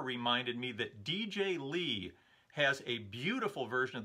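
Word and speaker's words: DJ L33: He spells his YouTube name DJ space L33. He pronounces it DJ Lee.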